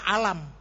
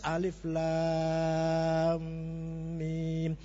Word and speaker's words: Alif Lam Mim: enggak ada ilmu tajwid alif lam ini saya baca alam iya iya alam itu bacanya nya kalau bukan Quran juga alam kalau bukan Quran di kitab-kitab misalnya ada tulisan begitu alam itu tapi salah itu bacanya harus Alif Lam Mim namanya mad lazim